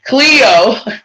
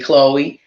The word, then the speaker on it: Cleo: her name wrong sorry cleo went to bed about 8 p.m and forgive me i've been saying chloe cleo went to bed about 8